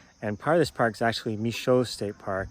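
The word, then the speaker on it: Michaux: this park is actually michoa state park it's spelled with an aux to keep the french pronunciation of the name but i thought that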